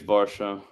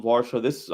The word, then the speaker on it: Varsho: I think it's Varsho.